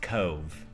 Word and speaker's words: Cobh: the prettiest one we've seen and it is pronounced "Cove" it might be spelled Cobh we found out yet another Ireland pronunciation the hard way we said "Cobb" quite a bit yeah so after the Titanic